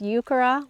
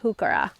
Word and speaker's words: Heuchera: and this is the hookura it's really hard not to get those too confused you may have heard this pronounced yucara with the h silent leave me a comment